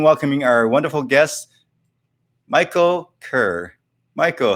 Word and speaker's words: Kerr: higher so it's called the author is michael kerr i think you pronounce his name it's called the humor advantage